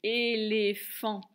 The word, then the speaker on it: éléphant: Je fais taper trois syllabes, première et, deuxième les, et la dernière, la plus dure, fan. Le son F, P, H comme dans phare, le son en, AN comme dans volant, et le T qui est muet.